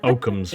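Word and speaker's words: Occam: I can't say I know for sure how Tier would feel, but I think he would be understanding of Aam's razor.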